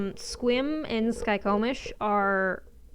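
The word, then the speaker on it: Skykomish: Skycomish? Or Skikomish? It's Skycomish. Skycomish.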